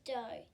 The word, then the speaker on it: Do: My last name is Do. Yep, rhymes with go.